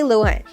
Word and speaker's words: Lohan: i have joined tiktok instead of emphasizing the ah she stressed the o in the first syllable of her last name many followers discovered they